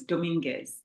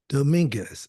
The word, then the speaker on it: Dominguez: paternal grandmother and how do how do you pronounce that last name the last name is Dominguez Dominguez okay all right I I I probably won't